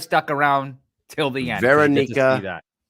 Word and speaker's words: Veronika: Veronika.